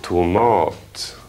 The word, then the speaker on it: tomat: Tomat. Tita, va? Betoning på den andra stavelsen.